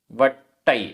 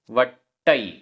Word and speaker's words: वट्टई: उच्चारण कंदप्पाय आधा प पूरा प कंदप्पाय कंदप्पाय वट्टई आधा ट पूरा ट वट्टई करमाणो कर्माणो भोयणसु भोयणसु रसगद